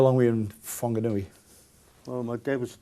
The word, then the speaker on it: Whanganui: it's a wh but it's the h is not pronounced so it's still wanganui but it's spilt wh i don't know why um so how long were you in whanganui well my dad was